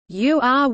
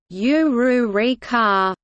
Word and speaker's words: Ulrika: tries to teach it, like Ulrika's name, which Ouyu says it as, "Uryuurika," instead of, "Ururika."